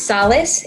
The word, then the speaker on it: Sales: i like and it's solace it's actually a spanish pronunciation of the last name awesome columnization solid okay i feel that yeah so our special guest then today is solis so nice to